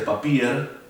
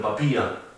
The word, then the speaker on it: Papier: La ER se pronuncia como A. Por eso, papía no se dice papier, sino papía. Lo mismo con madre, no es mutter, sino muta.